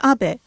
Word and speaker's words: Abe: House my name is Abbe but in the United States some people mistakenly pronounce my name as ape but that is not